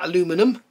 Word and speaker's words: aluminum: shades um lp 38 is flat aluminium or flat aluminum should say because that's how it's written on there and that is the correct way to say it um lp-40 is metallic